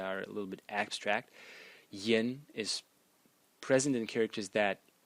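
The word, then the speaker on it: 言: And the semantic element in this character is pronounced yen.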